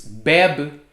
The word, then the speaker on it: bebe: are the examples i i found there is beb he drinks and babe right so like the